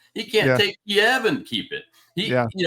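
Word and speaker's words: Kyiv: done yet can't take Kev and keep it I say k because I don't buy this about changing pronunciation of things he can't take keev and keep it he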